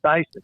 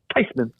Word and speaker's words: Theismann: said um they want to change the pronun pronunciation of our last name from thasan to tysman she says I tell you this she says actually the correct pronunciation is tyman and what they wanted it was closer than